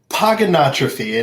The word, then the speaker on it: Pogonotrophy: So it is Pogonotrophy, and the easiest way to nail it every time is Pogonotrophy. Pogonotrophy. It's kind of like hippopotamus. It's hippopotamus. That's how I remember how to spell it.